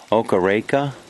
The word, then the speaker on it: Okareka: And then the view, that lake, you know, I'd probably do it misjustice pronouncing it. Okareka, O-K-A-R-E-K-A.